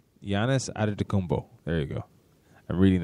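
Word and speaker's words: Giannis Antetokounmpo: I got to make sure I pronounce this right. Giannis Adetokounmpo. Giannis Adetokounmpo.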